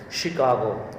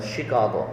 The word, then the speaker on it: Chicago: of this word is chicago remember chicago okay she sh um the spelling is ch but pronunciation is sh shi shi chicago one